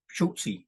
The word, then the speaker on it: Schulze: attended the funeral of my good friend Howard Schultz schultzy is the proper pronunciation s-c-h-u-l-z-e Howard was a friend of mine